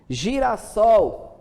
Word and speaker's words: girassol: Girassol, do verbo girar, gira de girar, mais sol. Para que não ficasse, né, com a escrita e nem a pronúncia errada, foi-se acrescentado mais um S, para ficar girassol.